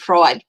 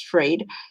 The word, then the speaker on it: Fried: fields are freed freed i'd say it fried because it's spelled fried but it's freed mistreat um in the